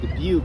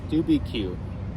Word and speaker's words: Dubuque: for the first time, I did not know how to pronounce the word Dubuque. And I've been thinking the way you pronounce it is Dubuque.